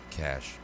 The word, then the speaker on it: cache: says cash absolutely right it's pronounced cash the final e is silent this is also proof